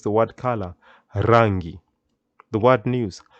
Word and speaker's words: rangi: rolling tongue and this is how you can pronounce the word color rangi the word news habari very important word to